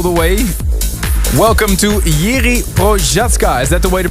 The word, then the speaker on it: Procházka: Welcome to Jiří Procházka. Is that the way to pronounce it? Procházka.